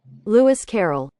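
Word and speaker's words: Lewis Carroll: I actually never had to say his name Louis Coro Carol I'm so sorry I am saying his name wrong I'll do a voiceover correct pronunciation right now Louis Carrol okay yeah so every time I want to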